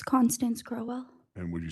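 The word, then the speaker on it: Crowell: Good morning, Miss Crowwell. Am I pronouncing it correctly? Crowwell.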